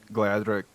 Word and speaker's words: Gleadhraich: Do you ever feel like you encounter crowds or listeners who maybe reference Gleadhraich? Sorry, I keep trying to pronounce the name of the band right.